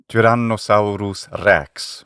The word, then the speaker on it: Tyrannosaurus rex: Janos Sauerus Rex with a classical Latin.